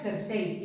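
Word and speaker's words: jerséis: en I latina jersei la forma correcta es jerseis perdonadme porque le falta la tilde tendría que tener una tilde en la e gers Sí porque es una palabra aguda terminada en s perdonadme que le falta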